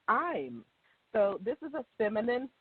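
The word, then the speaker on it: Eim: So I'm, it sounds just like I'm, almost like I am, but, you know, what's that in that conjugated form? It's spelled E-I-M.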